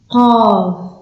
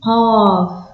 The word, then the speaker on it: ق: Ghain, Fa, Fa, Qaf, et pas Kef, on dit Qaf. Ça doit venir de la gorge.